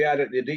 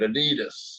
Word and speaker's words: Adidas: You said you like the Adidas. You call it Adidas. But Yeah, that's my I know you yeah, also Adidas is how you say it over there, right?